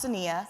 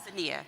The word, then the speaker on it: Cinneah: It's pronounced Cinneah. Cinneah.